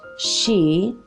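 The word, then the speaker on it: Sidhe: for you if they like you now the she it's felt s idhe but pronounced she are Irish fairies and they're attracted to anything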